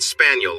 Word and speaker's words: Spagnol: "Cal Spagnol," he said, pronouncing it Spaniel like the dog, which cleared up a small mystery, and we shook hands with our left hands.